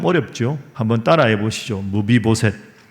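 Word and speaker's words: 므비보셋: 발음이 좀 어렵죠? 한번 따라해 보시죠. 무비보셋.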